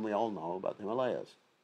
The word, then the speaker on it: Himalayas: Or Himalayas or Himalayas. I think correct pronunciation, the Himalayas. If there was a long A, it would be Himalayas. Himalayas.